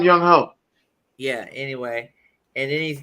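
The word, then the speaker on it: Younghoe: of course he has Yanku Kuku at fucking Atlanta kicker. No, you're saying his wrong name wrong. It's some young hoe.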